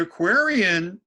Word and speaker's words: Aquarian: and Aquarian rhymes with contrarian.